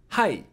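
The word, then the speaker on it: ひ: end let's practice reading hi so here again the e sound you can de-vocalize and it's going to sound more natural it means a person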